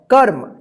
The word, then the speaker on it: कर्म: उच्चारण नहीं होता है, उस अक्षर से पहले वाले अक्षर के बाद आधा र का उच्चारण कीजिएगा, जैसे क आधा र म, कर्म।